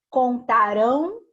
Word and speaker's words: contarão: Ó, é isso aqui, o nasal é o som que sai pelo nariz, tá? Então, vai ser exatamente nessa finalização aqui, ó, do AM no final aqui e do AOTIL aqui no cantarão, tá?